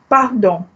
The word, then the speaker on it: pardon: Pardon means pardon me. Okay, I share with you this word because it's the spelling is just like English, only with a slight difference in pronunciation.